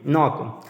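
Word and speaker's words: knock: के एन ओ के नॉक के एन ओ के में जो पहला के है वो साइलेंट है नॉक तो इसी तरह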